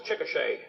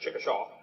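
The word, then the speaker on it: Chickasha: 2005 textbook and I pronounced it wrong. It's chicochet, not chickaw. Chicochet Oklahoma.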